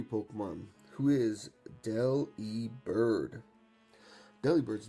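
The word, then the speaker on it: Delibird: So, I've been saying it right the whole time, but deli bird pronunciation.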